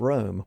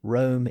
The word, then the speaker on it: Rome: of its meaning but if we changed the pronunciation of the city back to the way he would have pronounced it the line reads now it is room indeed and room enough